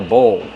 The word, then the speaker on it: bowl: It's called a bowl. How do we pronounce bowl? Bowl. Use a long O like no and go plus the dark L.